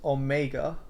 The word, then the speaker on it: omega: Is omega, which is the last letter in the Greek alphabet, is pronounced omega, omega, omega. Not saying anything that you imagined. It's omega. Sounds like Chinese almost.